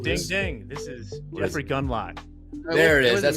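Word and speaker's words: Gundlach: This is Jeffrey Gunlock. There it is. That's how you pronounce it.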